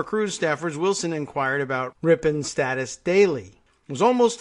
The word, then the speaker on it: Ripon: clever bit of marketing ripe on it's a small town in Wisconsin where the Republican Party was born oh I didn't even know that probably means I'm mispronouncing it and that it's Ripon sorry Wisconsin the Cruz